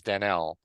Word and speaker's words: Danelle: I'm pronouncing it Danielle, but I guess it's Danelle.